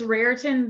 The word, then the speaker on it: Raritan: City located in the heart of is it Raritan Valley is that how you say it it is it's Raritan Valley um it's in the middle of Edison